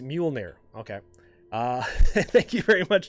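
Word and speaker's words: Mjölnir: Okay, so it's pronounced Mjolnir.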